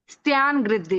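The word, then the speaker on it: स्त्यानगृद्धि: अच्छी वाली से, हाँ हाँ, निद्रा निद्रा, प्रचला प्रचला, सत्यानुवृत्ति, सत्या नहीं, त्यान गृद्धि। स्त्यान गृद्धि, हाँ, स्त्यान। आधा स है, आधा त है, त्यान गृद्धि।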